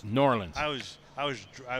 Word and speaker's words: New Orleans: there nor Orleans norleans it's not pronounced New Orleans it's norleans I was I was